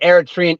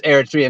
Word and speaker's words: Eritrea: you said is it Eritrea or is it Eritrea Eritrea Eritrea that's how you that's right yes yes but but how